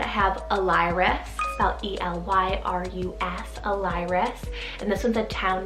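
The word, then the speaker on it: Elyrus: boys side i have a lyric about e-l-y-r-u-s alires and this one's a town name in ancient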